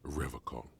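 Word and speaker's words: Revachol: He pronounces Revacol with a hard K, unlike other people.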